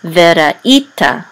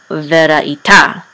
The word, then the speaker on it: veraita: So it's veraita, not veraita. Okay, so it's veraita.